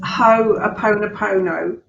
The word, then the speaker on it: Ho'oponopono: to be talking about today with you is ho opponopono um that's the way I say it but